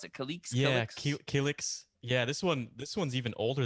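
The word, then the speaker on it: Killiks: The Kiliks. Man. How do you pronounce it? Kaliks. Yeah, Kiliks? Kiliks.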